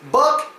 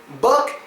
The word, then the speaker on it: book: word but basically it's buck and boob buck and boob now I know a lot of people say B Because when they see the two o's together they automatically assume that it makes a